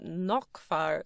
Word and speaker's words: Naglfar: a ship called the Naglfar [pronouncing it Naugk-far]. Naug. Nauk. Naglfar. It's spelled like Nagel-far, but it's like Nauk, Naugkfar.